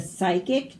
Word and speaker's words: psychic: Ptolemy, the psychic pterodactyl, struggles with psoriasis. So all of these P's are silent. We don't say them.